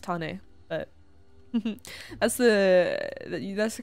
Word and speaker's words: Tane: Yeah, my name is actually correctly pronounced as Tane, not as Tane. Yes, Tane. It's a Maori name.